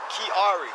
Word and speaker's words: Kiari: How you spell that? And what's your first name, Mr. Kiari. You already read my tags. What is it? Kiari.